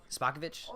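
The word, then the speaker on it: Spopovich: her crap kicked by spa kovitch is how it's pronounced and Gohan got raged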